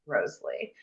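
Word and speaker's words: Wriothesley: Southampton's name, Henry Roseley, was supposed to be pronounced Roseley.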